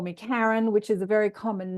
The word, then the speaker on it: Karen: And I was talking about the history of that, like South Africans pronounce the hard A, and Norwegians and Scandinavians pronounce the hard A, the car.